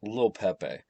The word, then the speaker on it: Lil Pepe: So, this one is called Little Pepe, but uh, you know, it's pronounced with Lil Pepe.